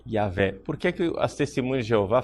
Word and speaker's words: Iahweh: deus é jeová jeová a pronúncia correta é ea velha porque as testemunhas de